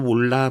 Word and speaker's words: M: 단위의 m이라고 하는 놈은 읽을 때는 몰라라고 읽으면 됩니다. 그래서 제가 수업 시간에 우스갯소리로 나도 몰라 뭐 이런 말들을 많이 하는데요.